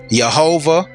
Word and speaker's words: Jehovah: And this either can be pronounced as Jehovah or Yahweh, which we get Jehovah now.